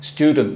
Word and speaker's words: student: S, student, student. No es e, student. No hay sonido vocal.